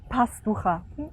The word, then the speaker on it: Pastachua: you say your name my name is possible ha yes very good and